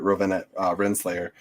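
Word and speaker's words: Ravonna Renslayer: I can never pronounce her name right. Rowena Renslayer.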